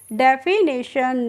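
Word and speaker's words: definition: हम पढ़ते हैं डी ई एफ आई को पढ़ेंगे हम डेफी और एन आई को पढ़ लेंगे यहां पे ने। और टी आई ओ एन का प्रोनाउंसिएशन होता है शन करके। ठीक है? तो इसको हम पढ़ते हैं डेफिनेशन।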